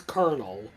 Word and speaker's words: colonel: I wouldn't know true how is Kel pronounce kernel when it's spelled the way it is I don't know teacher no